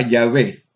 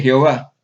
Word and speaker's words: Yahvé: vocales cuál enciclopedia judaica sabemos que su pronunciación original nunca se perdió y que antiguamente se anunciaba yahvé Así que Quienes no desean pronunciarlo con vocales correctas pueden sustituirlo por la palabra o el título adonay pero nunca debe leerse Jehová porque esa forma es Sencillamente incorrecta Así que producen llave